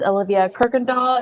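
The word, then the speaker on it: Olivia Kuykendall: spell it with record sure my name is olivia kirkendall it's spelled o l i v i uh last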